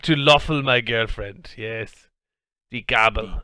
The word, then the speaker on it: Löffel: Löffel, now that's an O with an umlaut, so.